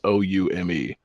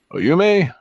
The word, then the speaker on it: Oume: So, the final boss of this character, or of this game, is how do you say a Japanese name that's just O-U-M-E? Oyume? Oume? Oume, I think.